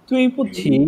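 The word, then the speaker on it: 对不起: একটু প্রবলেম রয়ে যাচ্ছে এটা হচ্ছে তুই বলতেছেন এরকম না তু এই যদি ভেঙে প্রোনাউন্সিয়েশন করি প্রোনাউন্সিয়েশনটা এরকম হবে, তু এই যদি একসাথে বলি তাহলে হবে তুই তুই তুই এরকম, নট তুই তুই তুই পুচ্ছি তুই তুই, হ্যাঁ তুই তুই তুই তুই পুচ্ছি।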